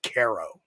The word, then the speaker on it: Cairo: different we have a spelled like Cairo New York but we all call it Caro yes we have a